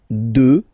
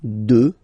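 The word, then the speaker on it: deux: 2, final X not pronounced, okay? 2.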